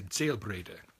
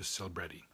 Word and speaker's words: Selbrede: It's a German surname, and in Germany you would say Selbrede. And in America it's been anglicized to Selbrede.